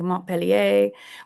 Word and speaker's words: Montpellier: And I'm probably, we really wouldn't say the R, I think. Montpellier would be, I think, more the pronunciation.